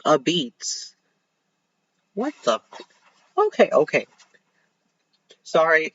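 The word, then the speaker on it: apizza: no no it is New Haven style pizza which is a Beats except it's spelled as a pizza it's literally spelled a p i z z a and these people are out here saying it's a beats that that doesn't that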